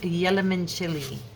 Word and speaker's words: Yellowman: It's Yellowman. The first time I saw it, I was like, how do I say that? And the nurse goes, exactly like it's spelled.